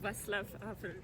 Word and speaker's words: Václav Havel: C'est sur cette place que le cher, bon, Václav Havel en français, mais apparemment ça se prononce, Václav Havel, qui a prononcé l'indépendance